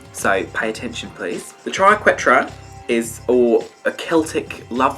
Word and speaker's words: Triquetra: So I like the Triquetra, that's just how it's pronounced, and I'm going to put it on my forehead for you today.